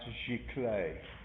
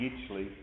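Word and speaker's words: giclée: end of class today uh that word is pronounced chicle a chicle is a digital prince and uh some people say a geechly i heard someone say i'm having i'm paying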